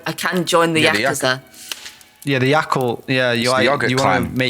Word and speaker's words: yakuza: yakuza they're not the yakuza is it the i thought exactly the presenter right yakuza is the correct pronunciation but because the westerners have to do prolonged wowie look at the